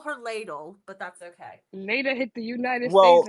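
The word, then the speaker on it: Leida: it's Leda. Lita. Okay, Leda. Lita. Leda, yeah. Almost like Leda. I Leda. call her ladle, but that's okay. Leda hit the United States Well, and hit the ground running, bro.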